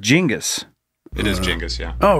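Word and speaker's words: Genghis: Kong jingus yeah it's jingus it's genas it's pronounced jingus it is jingus yeah oh really yeah I just didn't want to correct you I've always thought it was genas Khan yeah that's what most people think it's a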